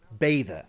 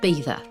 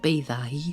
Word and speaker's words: Beddau: It's pronounced Beddau. Mm-hmm. Okay, but it's spelled Beddau. And I learned something new. In Welsh, double D means TH sound. Mm-hmm. Kind of cool. And it's Beddau, short, not Beddau.